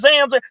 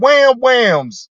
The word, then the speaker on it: wham whams: You remember that story that you told, how that older woman gave you some zuzus and zams? She didn't even say it right. It's zuzus and wham whams, Regina.